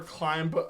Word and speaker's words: climb: We don't really pronounce the B. I mean, sometimes some people do. It depends on your accent.